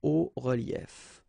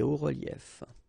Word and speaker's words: hauts reliefs: then it's quite simple, because S and S, but then we don't pronounce them here. Des hauts reliefs. Okay, un haut relief, des hauts reliefs.